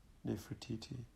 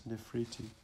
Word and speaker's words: Nefertiti: let me correct you you have pronounced my name as it says spelled but I must remind you that I was always known as nephriti a much prettier name as for me progressing